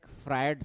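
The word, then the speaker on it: Freud: इसी को थोड़ा सा जैसे होता क्या है फ्राइड सिगमंड फ्राइट एक बहुत बड़ा साइकोलॉजिस्ट है सिगमंड फ्रा फ्राइड फ्राइड फ्राइड स्पेलिंग देखना फ्राइड की स्पेलिंग क्या होगा क्या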